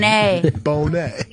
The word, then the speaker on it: Bonet: yeah Lisa Bonet he you put the the accent on the bone for some reason bone Bonet or her young